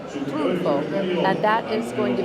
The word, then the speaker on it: Triunfo: Trunfo.